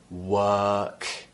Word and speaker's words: work: long vowels for example a word like work okay we're not pronouncing the r here we're replacing it with an uh sound work okay so that would